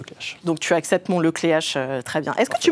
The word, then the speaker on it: Le Cléac'h: Apparemment, faut dire le clair. C'est vrai ou pas ? Non. Non, on dit on a tellement écorché ton nom que Oui. Puis on pose souvent la question. Donc, on dit bien le clé H.